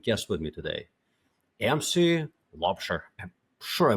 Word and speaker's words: Laubscher: I have a terrific guest with me today, MC Lobster. I'm sure I butchered your name just a little bit, but I've tried.